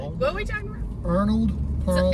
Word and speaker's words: Arnold Palmer: That's why I say Anapama. When you work at a restaurant, you have to learn how to say it. Arnold Palmer? There it is! There. You have to say it slow. Arnold Palmer.